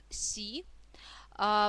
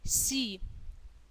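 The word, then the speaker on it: し: Первый слог у нас «си». Произносится как нечто среднее между мягким «с» и «щ». Да? «Си», «си».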